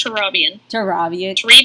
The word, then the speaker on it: Turabian: I said it wrong. It's Turabian. Turabian?